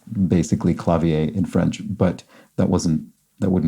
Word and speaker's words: clavier: And I think it would be pronounced basically clavier in French, but that wouldn't have been box context, so wasn't correct about that. And I think in English generally we would use something more like the German pronunciation.